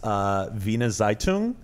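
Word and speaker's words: Wiener Zeitung: this this newspaper I is it is it pronounced Vina zeitoun yes they good in Germany oh well thank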